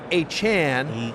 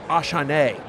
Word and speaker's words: Achane: Devon Achane, and then it came out that you preferred to be your last name pronounced Achane, and so I was curious about that. By the way, one of my producers calls you Achane. We never heard that one before.